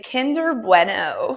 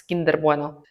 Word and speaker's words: Kinder Bueno: You know, some names they're not supposed to be pronounced with an English accent. Like I imagine I would say Kinder Bueno. It's kinder bueno.